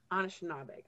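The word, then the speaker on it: Anishinaabeg: In the title, how do you pronounce this Anishnaabeg? I'm not sure. Anishnaabeg, yeah. Anishnaabeg.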